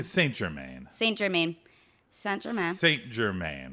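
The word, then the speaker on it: St-Germain: Jim man nope nope why did you say it that way that's how it would be pronounced in French I should be like German st. Germain st.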